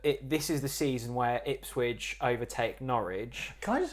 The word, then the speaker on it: Ipswich: I said that this is the season where Ipswich overtake Norwich. Can I just say, I still love it how you pronounce Ipswich as if you're talking about a sandwich.